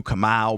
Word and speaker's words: Kamau: Nice pronunciation. That was good. Why people butcher it? No, of course. He really hit it. He was like I know there's no L at the end.